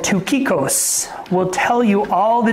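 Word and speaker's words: Tychicus: But tukikos. So I'd always want to say taichikos in American. But it's called tukikos.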